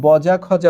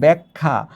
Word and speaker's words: ব্যাখ্যা: মত উচ্চারিত হওয়া উচিত তাহলে এখানে বজা খজা উচ্চারিত হওয়া উচিত কিন্তু আমরা উচ্চারণ করছি ব্যাখ্যা অর্থাৎ এই জায়গায় এ